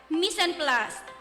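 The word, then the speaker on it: mise en place: space p l a c e it is pronounced as misen plus can you repeat very good what does this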